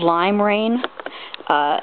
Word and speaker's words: limera1n: in the description uh it's called lime rain and rain is spelled with a one um but what you